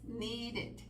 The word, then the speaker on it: needed: separamos dos sílabas waited need a la hora de poner el pasado dos sílabas needed and a la hora